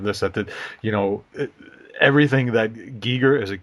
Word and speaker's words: Giger: You know, everything that Giger is it Giger? Is that how you pronounce Yeah, it? Giger.